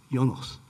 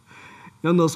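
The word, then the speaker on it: János: can pronounce it correctly, Janos. Yeah. J would not pronounce as J, it's pronounced as practically Y, right? Janos Kola, and Professor, Department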